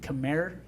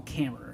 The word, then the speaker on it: Khmer: everybody else and good Khmer that's how you pronounce UK Khmer I was calling camera everybody know so we